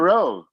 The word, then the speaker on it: Rao: Rowe, Mr. Gunsling and Rowe. Well, Marty, I love my friend Oscar, but he always mispronounces my name. It's Rowdy. It's like Rowdy, man. It's Row.